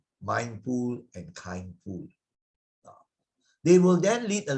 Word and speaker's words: kindful: Kindful. It was coined by one very well-known monk, Ajahn Brahm, right? Because he wants it maybe to rhyme with mindful also. Kindful.